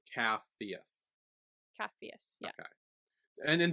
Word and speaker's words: Capheus: Capheus. Capheus. Did I say Yay! his name right? Then because that was why I was questioning it. Capheus. Yeah, it's Caphus. Capheus. CHPH. C-A. CAPH. P-H-E-U-S. EUS. So Capheus.